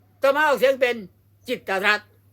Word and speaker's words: กิตติ์รัฐ: นี้ แล้ว ไป อ่าน จิตรัตน์ ได้ ยัง ไง อย่าง งี้ อ่าน ได้ คำ เดียว ว่า จิต รั จิต รั จิต รั จิต รั ก็ ต้อง อ่าน ว่า จิต รัต เท่า นั้น ไม่ ใช่ จิตติรัตน์ ไม่ ใช่ จิตต รัต